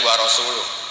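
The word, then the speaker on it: وَرَسُولُهُ: Yang benar bacanya itu warasuluh.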